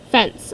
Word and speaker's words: fence: crawl under the fence fence I know this is a soft C because it's followed by an eight they crawl under the